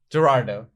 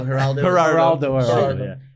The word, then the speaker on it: Geraldo: hated us, and not Joan Rivers, but but Gerardo. What? How do you say? Geraldo.